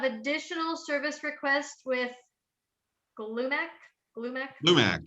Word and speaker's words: Glumac: Lumac, yes. They don't spell that out, right? It's they say it. That is how you say it.